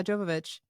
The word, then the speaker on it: Jovovich: God I liked these panties too spelled her name wrong is it jovovic yeah Jovovich um there's a Mila jovanovich don't get it